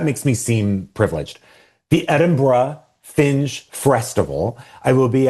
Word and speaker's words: Edinburgh: Someone did take me to task in a good way this weekend because Oh, about how you pronounce it. It's Edinburgh. That's like a frack eye guy. Edinburgh.